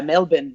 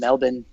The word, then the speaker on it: Melbourne: wife okay Wow and it's yeah it's yeah Melvin by the way that's how you pronounce and Melvin so that's annoying to get used to because